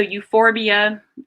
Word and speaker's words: euphorbia: see AE in Latin often pH is pronounced like an F so euphorbia that's something that is